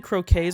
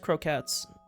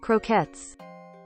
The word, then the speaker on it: croquette: wrong I was saying croques before apparently it's just croats apparently I was saying it wrong I'm going prepare your ears cuz this might be quite loud uh American pronunciation Croquettes there you go Croquettes